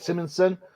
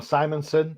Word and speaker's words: Simonson: wars david michellini yeah walt simmonson or simonson depending on you know if you're me or you say it right one of the two